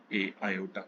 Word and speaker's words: iota: Spelling है IOTA, आयोटा, ठीक है।